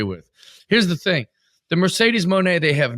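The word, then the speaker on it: Mercedes Moné: we need to make it happen ASAP like Mercedes Monae is too big of a star that's how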